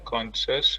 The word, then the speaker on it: conchas: A Sally vende conchas pela costa. Very good. Conchas had an S at the end of the last syllable, and Costa had an S at the end of the first syllable.